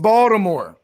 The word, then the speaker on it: Baltimore: something interesting for them i think it's pronounced baltimore oh man i'm from around his balmer dude shout out to